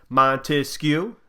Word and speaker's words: Montesquieu: Montesquieu, that's 3 syllables.